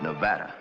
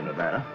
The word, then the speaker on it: Nevada: By the way, that's pronounced Nevada. I notice you give it the broad ah. I prefer it to a dreadful flat ah.